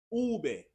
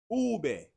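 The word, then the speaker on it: uve: The letter V in the Spanish alphabet is pronounced ube, ube, ube. One more time, ube.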